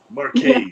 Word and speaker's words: Marquez: Marquez, is how we pronounce it.